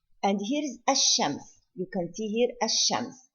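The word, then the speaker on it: الشمس: If we say Ash-Shams, here it is not pronounced at all.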